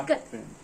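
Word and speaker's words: ikat: क्या इक्कत बोलते हैं, इकात बोलते हैं, क्या बोलते हैं इसको? प्रोनाउंसिएट कैसे करते हैं? इक्कत।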